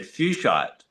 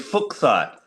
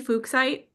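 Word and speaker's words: fuchsite: Now I've always had fuchite but then recently I believe that the guy who found it surname was actually pronounced fukk so it is fuksite cuz always find it like saying kind of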